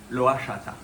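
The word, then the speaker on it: lohachata: Et bien oui, encore une fois, c'est le nom commun, c'est le nom indien et donc on dit loata.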